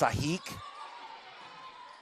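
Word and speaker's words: Sajic: How about Sahik with a block? Foothill Trojan. Her last name is spelled S-A-J-I-C. Very European last name, but it's pronounced Sahik.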